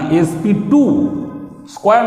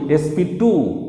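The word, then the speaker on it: sp²: তাহলে এটা হবে কি, না sp2 স্কোয়ার নয়, আমরা উচ্চারণটা করব কি sp2।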